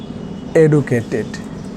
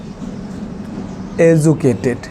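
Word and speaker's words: educated: হি ইজ নট এডুকেটেড, এটার ভালো উচ্চারণ এজুকেটেড।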